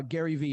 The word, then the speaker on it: Gary Vee: knows the gentleman uh gary vee or gary vaynerchuk okay if you don't know you need to know gary v just the letter v isn't victor okay you don't even